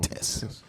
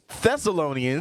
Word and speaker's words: Thessalonians: I'm sorry, I keep saying Tess. I thought the H was silent. The H is silent, y'all. 1 Thessalonians all praises.